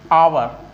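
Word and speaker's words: hour: का उच्चारण क्या है जैसे अगर हम भून लें एच ओ यू आम इसको किस तरह व बोलते हैं लेकिन इसका करेक्ट प्रनंसीएशन जो होता है क्या होता है आवर यानी हात स्टार्ट हो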